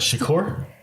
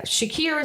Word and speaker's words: Shakir: name it starts with what Shakur yeah Shakir is the last name I the first name